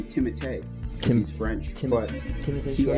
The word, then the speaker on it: Timothée: I don't want to say anything Actually, from you say his name Timothée. Because he's French, but Timothy he actually Chalamet. lets people pronounce it Timothy.